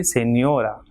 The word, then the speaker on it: señora: Same way, señora, 3 syllables, señora. So second last will be stressed as it is ending in a. So it will be señora.